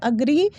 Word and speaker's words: agree: हमने क्या पढ़ा, अग्री, जिसे हम एग्री पढ़ते हैं डे टू डे लाइफ में, बट ये बिल्कुल ही गलत प्रोनाउंसिएशन है। इसका जो करेक्ट प्रोनाउंसिएशन है वो है अग्री।